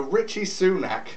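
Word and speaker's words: Rishi Sunak: please um no um but uh yeah so Richie sunac is how you pronounce his name by the way Richie Rich Richie Rich Richie soonack that's probably going to be his nickname um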